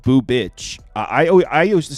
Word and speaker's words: Bubic: So Brandon Browning saying it's pronounced boo bitch. I used to say bew bitch.